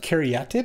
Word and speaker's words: Caryatid: So back when I was on PT coverage, we got the mandate that this is actually pronounced Caryatid, and we should say Sylvan Caryatid.